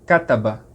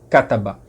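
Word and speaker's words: كتب: em árabe se diz kataba certo cataban se escreve simplesmente ktb as vogais não se escreve então a ficar só ktb se lê kataba aí se você quiser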